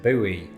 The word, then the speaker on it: buoy: Its biggest purpose, though, is starting flame wars between Brits and Americans, the latter of whom usually pronounce it buoy.